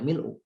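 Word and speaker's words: مِلْء: Ini bacanya boleh mil'a, boleh mil'u.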